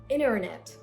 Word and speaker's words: internet: So you're not going to pronounce the letter T after the letter N. So it's internet.